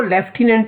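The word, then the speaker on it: Lieutenant: लेफ्टिनेंट governor, ये सभी बच्चों से रिक्वेस्ट है मेरी, सभी स्टूडेंट से, कि लेफ्टिनेंट ये वर्ड है हिंदी में, इसकी जो प्रोनाउंसिएशन है वो लेफ्टिनेंट है।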